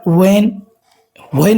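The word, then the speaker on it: when: बट वेन नहीं पढ़ना है इसको दोस्तों। ठीक, ये इसमें जो है एच जो है दोस्तों वो साइलेंट होता है, जब भी WH आए तो उस समय एच साइलेंट होता है।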